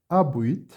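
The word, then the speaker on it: habuit: Maria abuit, percebam que o H não é pronunciado, abuit parvum agnom.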